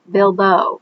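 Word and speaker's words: Bibot: Also, Bilbeau is spelled with a T at the end, but because it's there in France, the T is silent.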